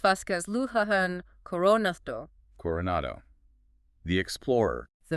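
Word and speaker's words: Luján: Pronounced Vasquez Luhan Coronato.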